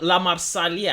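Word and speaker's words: La Marseillaise: should water our fields this is called the LA marsali I believe it's pronounced I understand that the translations into English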